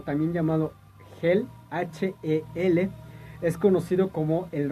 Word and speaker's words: Hel: llamado Helheim, o Helheim, como lo quieran ustedes pronunciar. Helheim, o también llamado Hel, H-E-L, es conocido como el reino de la